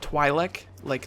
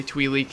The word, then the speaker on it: Twi'lek: Spotlight for the Twilight you guys told me that's how you say it twil like Twilight apparently um I said twe twei TW something like that I said something stupid I heard another YouTuber say twe leak and I thought that they would know what they were talking about but clearly not I guess but uh